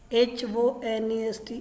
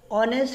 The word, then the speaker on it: honest: No, of course not, because honest pronounced with the o, right?